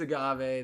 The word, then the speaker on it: agave: this question was gonna ruin me and it's agave they both already got it right long before my pronunciations kicked in max still on the lead